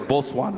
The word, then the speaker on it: Botswana: I'm I'm I feel like I'm from Bosswana. I've been here since Sunday. I'm like I feel like maybe let me actually let me say it right. Bosswana.